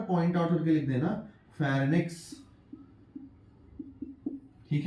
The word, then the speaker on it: pharynx: अरे sorry sorry sorry, फेरिंक्स कह रहा हूं मैं। फेरिंक्स ऐसे पढ़ता है इसको, फेरिंक्स ऐसी होती है इसकी स्पेलिंग, PHARYNX।